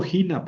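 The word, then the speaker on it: ἵνα: Por ejemplo, aquí tenemos eh la palabra jina. Gina. ¿Por qué leo jina? Porque lleva espíritu rudo. ¿Ven? Sobre la yota.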